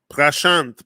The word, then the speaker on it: Prashant: mitzvah vince reversal functionings prashant pronounced with the soft t at the end trividi pronounced with a